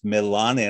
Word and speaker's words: Melane: because I asked you your pronunciation of your name is Melane, and I said it's like Italian with the pronunciation of all the vowels.